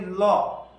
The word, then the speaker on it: law: In generally আমরা বলি ল, LAW, ল। এটা কিন্তু আসলে ল না, উচ্চারণ হবে লো।